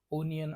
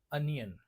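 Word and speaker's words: onion: प्रमाणात miss pronunciation होतं लोकांला वाटत ओ आहे म्हणून ते ओनियन अस म्हणतात परंतु ओ या शब्दाचा या शब्दाचा अर्थ किवा प्रोनन्सिएशन जे आहे ते कधी कधी अ सारखं होत जसे की ऑब्जर्व म्हणत नाहीत ऑब्झर्व म्हणतो काय म्हणतो ऑब्झर्व म्हणतो तसच मग ऑनियन न म्हणता आपण काय म्हणतो अनियन काय म्हणतो अनियन पुढचा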